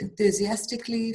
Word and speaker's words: enthusiastically: pronunciation guys is just enthusiastically fantastically ecstatically all right we just pronounce it as if it were just an ly we don't actually pronounce the a okay but the spelling